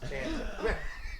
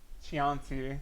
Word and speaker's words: Chianti: That's Chianti. Okay, Google, pronounce the word that's spelled Chianti. Chianti.